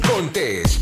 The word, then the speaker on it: Contés: Y con ustedes, Miguel Contés, con acento en la E.